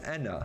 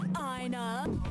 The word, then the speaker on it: ENA: I should note that ENA in Mercy's dialogue is in fact pronounced as ENA. Odds. Mooney throughout the series pronounces ENA's name incorrectly. Hey, Ina.